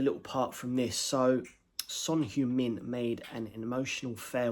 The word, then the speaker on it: Son Heung-min: Yeah, man, Heung Son, or Son Heung-min as it's pronounced in South Korea.